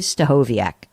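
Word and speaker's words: Stachowiak: pm Eastern certain time I dare you to pronounce this guy's last name let me do it for you Dave stahoviak and there's a lot of consonants in that name he's the host and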